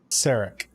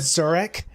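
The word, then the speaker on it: Sarek: his name wrong it's box dad saric oh we got it oh yes i almost said zurich and like stop stop here that's not it i'm like i think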